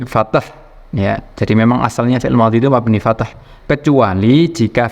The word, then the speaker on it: fi'il madhi: Jadi kesimpulannya, kalau ada fi'il madhi yang kemasukan dhamir yang bermakna nahnu atau kami atau kita, itu tidak di fathah akhirnya tapi di sukun.